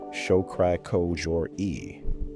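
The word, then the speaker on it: Shokri-Kojori: In 2018, a team at the National Institutes of Health, Ehsan Shokri Kojouri, pronounced Show-kri Ko-jour-i, and colleagues, scanned the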